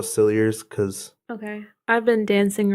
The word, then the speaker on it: Cilliers: police brought a meal it's silly ears well that's how the documentary pronounced it other places I saw pronounced that silly a but I'm gonna go sillier cuz okay I've been